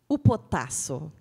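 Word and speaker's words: ὑποτάσσω: Essa palavra no grego, como é que fala, Gabriel? Upotasso. Eu não sei falar grego, mas ele me ensinou a pronunciar hoje.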